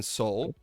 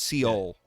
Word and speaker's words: Seoul: my best uh in Seoul they have uh low it's not it's not pronounced seal okay let's just clear that out that's one thing I